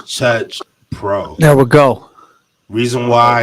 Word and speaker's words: Chuch Pro: h p r o there is no R in there it's not Church beats it's Church Pro it's chur Pro there we go reason